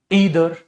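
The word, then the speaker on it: either: इनमें आता है मेरे बच्चे ईच, एवरी, ईदर, नीदर, जिसे आइदर या नाइदर भी कह सकते हैं बेटा, ठीक है।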